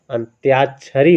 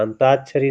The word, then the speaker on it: अंत्याक्षरी: अंत्याक्षरी होता है, अंताक्षरी नहीं अंत्याक्षरी होता है ना।